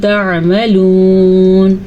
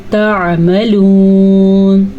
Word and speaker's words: تعملون: آئین کے تلفظ کا خاص خیال رکھنا ہے. اگر کوئی اس کو تعملون پڑھے گا اس نے تو الف مدہ بنا دیا.